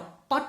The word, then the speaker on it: put: बट करते हैं, और PUT का उच्चारण उसके आधार पर बट, पट होना चाहिए। तो PUT को हम पट नहीं बोलते हैं, PUT को पुट बोलेंगे, क्योंकि वहां पे ऊ लगा है।